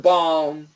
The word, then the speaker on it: balm: to be careful when we have the word balm we can keep the L I like to keep the L but we can get rid of the L but if we get rid of the L it's like a b a WM okay B A WM